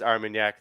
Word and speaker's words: Armagnac: up for doppelganger and you absolutely nailed the the pronunciation each time it is armagnac thanks to our friend